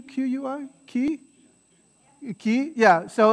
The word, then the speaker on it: qui: pronounced like this yeah a lot of my students who study spanish would want to say key but it's qui qui there's a q-u-i so kind of that that ui becomes that w sound